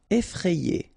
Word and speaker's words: effrayé: Effrayé. Okay, remember, double F, so you open the E, so effrayé.